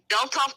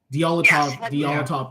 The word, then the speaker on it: Dyatlov: Now, you guys, have you ever heard about the Dyatlov Pass? I think it's how you pronounce it. In Russia, Dyatlov Pass.